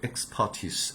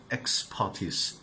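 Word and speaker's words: expertise: এক্সপার্ট এটা perfect যদি একদম উচ্চারণ হচ্ছে এক্সপার্টিস এভাবে এক্সপার্টিস এভাবে শো এক্সপার্টিস ইন দ্যাট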